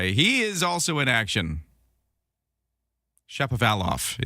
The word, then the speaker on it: Shapovalov: Shapovalov is how you say Denis Shapovalov's name, as he plays at Wimbledon today.